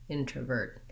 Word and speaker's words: introvert: And even though this syllable is unstressed and short, should be light, I still have to make that tight back R sound, introvert.